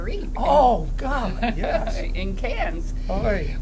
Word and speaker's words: Cairns: In Cairns, Oy. which looks like Carnes, Yes, but it's pronounced Cans.